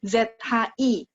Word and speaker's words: 只: Sekalian teman-teman belajar 只 ZHI 2只老虎. Jadi ZHI itu bunyinya 只 ya.